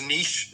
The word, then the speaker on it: niche: takeaway here is and I know this doesn't run because nish is pronounced that way but there are riches